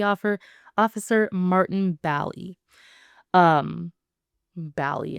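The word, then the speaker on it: Bally: Um, Bali instead of Bailey.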